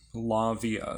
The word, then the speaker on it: Lauviah: So there's actually different pronunciations and spellings of this particular name. Lavia is how I pronounce it.